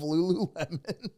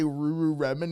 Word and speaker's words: Lululemon: Would say it wrong, and he liked how they said it wrong. They would say Ruru Remen.